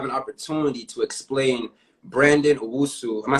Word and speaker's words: Owusu: you to have an opportunity to explain brandon usu am i saying your last name right yeah